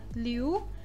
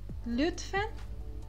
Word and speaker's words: lütfen: Este i é muito rápido, liu, lütfen, lütfen. Então, não pode falar liu, liu está errado. A pronúncia correta é lütfen.